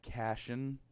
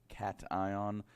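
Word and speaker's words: cation: now in other videos other people may pronounce that Cashin i use the term cat ion either is ok that's just the pronunciation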